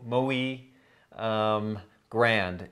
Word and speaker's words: Muy Grande: mu Y but it's it's pronounced like calling a pig sooie mo mo e grande is is how it's